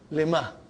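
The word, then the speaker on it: لِمَ: Lima. So ha will come as a silent lima. You are not pronouncing it because there is a sukoon on it.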